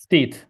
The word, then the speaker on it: ftit: So you're saying the word for few or little is I don't know if you pronounce it fetis. Ftit, That's that's the word that's used in Maltese, whereas in Arabic generally crumb.